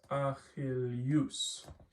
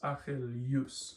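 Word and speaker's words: Ἀχιλλεύς: So for example, the name of Achilles in Greek is Achilleus. Notice Achilleus. It's like it's almost pronounced like this, Y-O-U, U.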